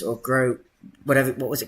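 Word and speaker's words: Groß: of the plays you've previously mention in Pascal gross or grow whatever it what was it called and asked for the thing you want to offers us it's pronounced gross it's just it is and they spell it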